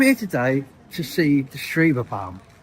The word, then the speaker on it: Schwebebahn: Schwebebahn. Ah, thank you. See, I said I'd get learnt. We've come here today to see the Schwebebahn.